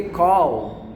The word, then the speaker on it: call: Já começa que o brasileiro, ele pronuncia errado call, porque call é termina com L, é call, né? É igual você falar ball, né? Você precisa ter esse L no final.